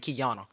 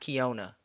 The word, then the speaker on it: Keyona: Like you can I already know I'm gonna see Keyona at such, and that's how people say my name, Keyona. But my name is pronounced Keyona.